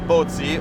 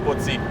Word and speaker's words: Pozzi: mani di Charles Pozzi, o meglio detto Charles Pozzi, il dealer francese celebrissimo, celeberrimo, al quale è dedicato ancora oggi sulle Ferrari più moderne il colore blu Pozzi, che ovviamente si dovrebbe pronunciare blu Pozzi.